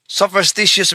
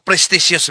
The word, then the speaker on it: superstitious: Ang tamang termino sa English sopstitious belief. Hindi po prestious belief.